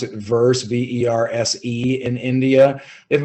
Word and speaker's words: VerSe: here necessarily called it's i believe they they pronounce it verse v-e-r-s-e in india they have about a five